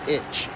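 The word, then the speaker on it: ichi: six is rock and the number one is pronounced itch one two and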